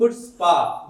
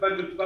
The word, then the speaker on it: chutzpah: तो पहले मेरे को नहीं पता था इसका सी साइलेंट है, तो पहले तो मैं इसको चुचपा बोलता था जी।